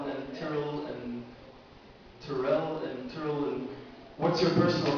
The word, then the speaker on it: Tyrell: the different pronunciations of Tyrell and Tyrell, and what's your personal pronunciation, and what's your motivation for that? I prefer Tyrell, just because I think it sounds cooler. I always remember in the